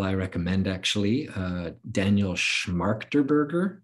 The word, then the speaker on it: Schmachtenberger: Uh Daniel Schmachtenberger. Schmachtenberger. Schmachtenberger, okay. I mispronouncing it all this time.